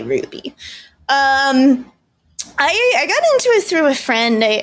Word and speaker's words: RWBY: You say Ruby, but be if you don't know already because you're it's not written for you. That's why I clarified RWBY. But you would say Ruby.